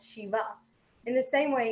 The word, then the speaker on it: Shiv: And the same with Shiv, we know it's Shiv Bhagwan and not Shiva.